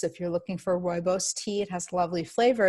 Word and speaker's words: rooibos: everybody is as familiar with is chamomile is rooibos it's spelled our Oh oh I BOS if you're looking for a rooibos tea it has lovely flavor as well it